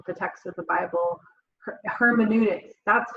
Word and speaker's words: hermeneutics: Hermeneutics, that's how you say it.